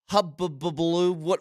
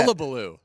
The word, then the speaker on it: hullabaloo: I was asking Marty during the break, I said, do you know what all the hubbubaloo, whatever the... How do you say that? How do you say that? Hullabaloo.